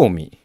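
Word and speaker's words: 尾身: うん実はえおみさんのアクセントがおの方につくそうですおの斧えおの実の方に下がるえビーズのイントネーションと同じらですおお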